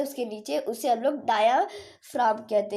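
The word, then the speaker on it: diaphragm: नीचे, उसे हम लोग डायाफ्राम कहते हैं। बहुत सारे लोग इसे डायाफ्रेगम कहते हैं। तो जी जो हमारा होता है वो साइलेंट होता है, तो ये डायाफ्राम इसे हम लोग कहते हैं, ठीक है।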